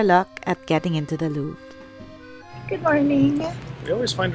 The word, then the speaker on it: Louvre: First of all, it's pronounced the Louvre.